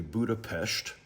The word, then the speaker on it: Budapest: And in Hungary, they pronounce their S's with a sh. So, it's actually Budapestt.